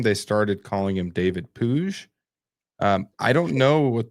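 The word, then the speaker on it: Puig: David Pooj is pronounced Puj.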